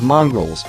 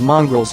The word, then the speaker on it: mongrel: lurchers lower-class households may have mongrels too but these rhyme with long dot there are always